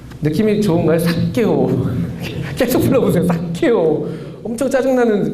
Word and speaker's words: 삭개오: 삭개오. 느낌이 좋은가요? 삭개오. 계속 불러보세요. 삭개오. 엄청 짜증나는 그런 이렇게 막 이름처럼 이렇게 들리는데, 삭개오. 일단은 발음할 때 된 소리가 들어가면은 이게 목에서 한번 긴장이 생기잖아요.